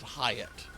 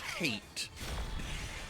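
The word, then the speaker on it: Hait: Hyatt and u my advisor very politely corrected me and said, "Actually, the name is pronounced hate."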